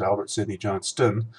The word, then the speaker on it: Albert Sidney Johnston: albert sidney johnston i'm sorry i have been mispronouncing these names so far this is albert sidney johnston he's moving up into this area roller Jefferson